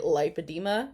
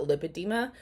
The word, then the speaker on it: lipedema: anyone's harping on what how I'm pronouncing it lipedema and not lipid Dema I would let's do